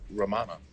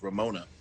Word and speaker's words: Ramana: We're going after Ramana. All right. Darcy will intentionally mispronounce her name as Ramona.